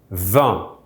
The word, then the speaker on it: vingt: So the number 20 in French is 20, with GT in the end, but pronounced exactly like the French word for wine, vin.